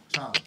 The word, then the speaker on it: Chong: Chong.